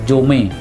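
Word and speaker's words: 70mai: Bahasa kitanya bacanya Jomai, karena angka 70 MAI, Jomai.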